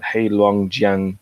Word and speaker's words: Heilongjiang: Songhua River in Harbin in hail let's even pronounce it right heilongjiang province in 1933 and was found by a